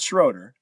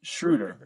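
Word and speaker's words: Schröder: Dennis Schruder. Not Schroeder. It's Dennis Shruder. Right. I like it. Shruder.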